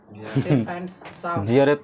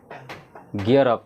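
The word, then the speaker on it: gear up: जियर अप नहीं है सर, गियर अप है।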